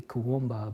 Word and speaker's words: Kuumbwa: weird word, and people, it's really 3 syllables, you know, people say Kuumbwa, but the W is really silent, and it's 3 syllables, so it should be Kuumbwa.